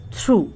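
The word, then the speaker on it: through: थ्रू, इसको थ्रू बोलेंगे, spelling इसमें भी GH साइलेंट है।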